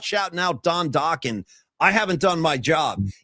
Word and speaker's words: Dokken: Because I feel like if someone's not shouting out Don Dokken, I haven't done my job. And I'm going to shout out Don Dokken, Rhymes with Rockin', and remind you that they had that one single, Into the Fire, I'm Falling.